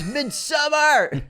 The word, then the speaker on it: Midsommar: And I love Midsommar. I remember that when we did an episode on it, I think back in 2020, we called it Midsommar, and we got, it's Midsommar!